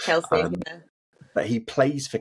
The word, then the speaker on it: Kelce: Travis Kelce? It's Kelsey.